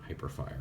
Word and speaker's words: Hyperfire: Deluxe blur with hyperfire I think it's hyperfire right it's not hypers shoot hyper fire okay let say it's going to be something weird like hypers shoot and I'm going to be saying it wrong I know it's hyper fire I was right yay